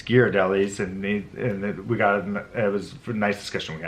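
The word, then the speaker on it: Ghirardelli: yes as I said that's a common miss mispronunciation called Jared Ellie's its gear delhi's and we got it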